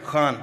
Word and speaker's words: Khan: Khan, am I saying it right? Khan from the Epiglottis.